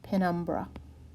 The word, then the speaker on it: penumbra: a lunar eclipse ok the next term is penumbra penumbra and it looks tough but it's really what is it looks like it's pronounced pin brah penumbra and a penumbra is a shadow that is